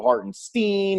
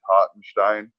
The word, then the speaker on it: Hartenstein: steen hart and stein what is the correct pronunciation einstein yeah you guys i'm i've been in america for a little bit now so i really go whatever but the rip now is hot and shine there you go so